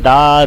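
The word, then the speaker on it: the: द क्यों बोला मैंने दा दी द अर्थ इसलिए क्योंकि इसका जो साउंड है वो है वल साउंड वल साउंड से पहले दा को दी पढ़ते हैं और अगर कंसोनेंट साउंड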